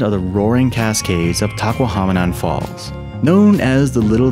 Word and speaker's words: Tahquamenon: Okay, rhymes with phenomenon. You can do this. Tahquamenon.